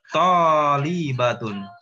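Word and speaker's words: طالبة: Tolibatun. Linya jangan panjang ya.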